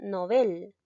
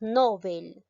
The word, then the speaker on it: Nobel: llegamos a entonarlo inadecuadamente por ejemplo la palabra nobel muchos decimos nobel en si se dice nobel ya entonces continuamos con